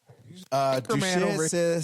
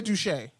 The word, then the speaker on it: Duchette: Duchette says he can't sit. Say Duche. Just say Duche. Duchette? Duche. The T is silent.